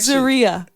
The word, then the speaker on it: Zaria: Zaria is how you spell it. I'm telling you when you go to the doctor. Zaria like diarrhea. And that's just really stupid, though. That actually, Zaria. I'm like, no, it's Zaria.